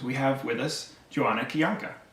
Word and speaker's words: Kijanka: excited is because we have with us joanna kiyonka kajanka did i say that correctly i mean in polish it's kianka but you can just pronounce it djanka if it's easier for you okay cool i